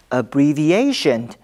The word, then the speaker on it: abbreviation: 要特别提醒，动词 abbreviate 的重音在第二音节，而名词 abbreviation 的重音在第四音节。